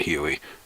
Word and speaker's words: Huey: In the old terms, it's the HU-1, and HU-1 is looked at as HUI, pronounced as Huey.